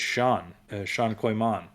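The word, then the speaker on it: Xi'an Coy Manh: We talked about that when we mentioned the New Mutants, and she's in here as it's Sean Koyman.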